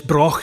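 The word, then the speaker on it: Brough: and the broken birth says it's spelled b-r-o-u-g-h pronounce Brock it's good you can clear your whole chest cavity if you're a Scottish person Brock of Bursey and it's very important to know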